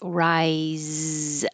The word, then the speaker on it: rise: And we started with rise with a Z sound. It looks like an S, sounds like a Z.